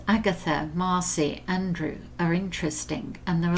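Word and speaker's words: Aindriu: europe at first but i think you pronounced it andrew but it's spelt a-i-n-d-r-i-u and i think that's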